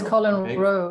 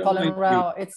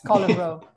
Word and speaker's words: Colin Rowe: No, it is Colin Rowe. It's not Colin Rowe. You can have a row with him, but he's dead. But it's Colin Rowe.